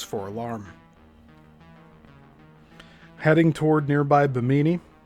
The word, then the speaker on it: Bimini: Heading toward nearby Bimini or Biminy. I think the pronunciation's biminy.